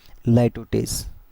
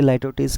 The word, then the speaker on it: litotes: Okay, बाकी नॉट वन is dissatisfied, मैंने इसमें बताया था कि यहाँ पे क्या यूज़ करेंगे, लाइटोटेस।